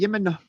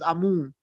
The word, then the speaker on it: Amun: The actual name is Yemen, but it pronounces to us as Amun.